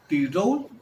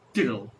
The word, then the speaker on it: Tyrol: But in English we have two pronunciations. Tyrol, the German expression, or the Austrian expression. Alright? And the naturalized English expression, Tyrol.